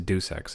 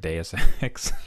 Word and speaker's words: Deus Ex: sec deus ex sorry i always pronounced the due sex until i heard deus ex deus ex machina the